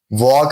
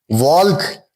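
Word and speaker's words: walk: में हो रहा है वॉक में ठीक है आई am going for अ वॉक वॉल्क नहीं कहते हम हम कहते हैं आई am going for अ वॉक ठीक I just came back after वॉक।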